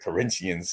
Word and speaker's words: Corinthians: the train station from Corinthians that's how they pronounce it Corinthians Stadium only took debit cards and so uh